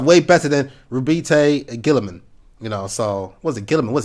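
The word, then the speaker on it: Roboute Guilliman: Yes, I know it's Robute Guilliman, but I've always just called him Robert Guilliman.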